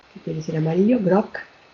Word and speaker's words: groc: Esto lo vemos, por ejemplo, en palabras como groc, que quiere decir amarillo, groc, estoy pronunciando una C que sería una oclusiva sorda, pero en el momento